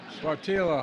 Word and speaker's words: Sáttítla: I mispronounced it the first time. Sáttítla Highlands in Northern California.